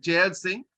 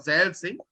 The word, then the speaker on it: Zail Singh: It is Gyani Jail Singh or Zail Singh.